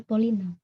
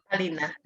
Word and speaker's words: Polina: Bacanya Palina atau Polina? Palina.